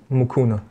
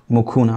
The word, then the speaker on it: Mukuna: David how do you say your last name mucuna mucuna where is that from it's from Congo actually